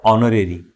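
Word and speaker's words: honor: तो एन ऑनर, H silent है।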